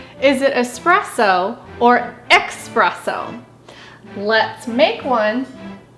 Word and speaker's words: espresso: But actually, expresso with the /k/ sound like 'express' is a misspelling of the Italian 'espresso'. So you might hear some people pronounce it as 'ek spress o' because it comes fast express style.